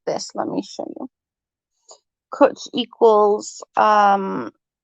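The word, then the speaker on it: cwtch: cook equals loving um kuch equals hug and it's spelt like this let me show you coach equals um it's coach it just means hugs it's just a welsh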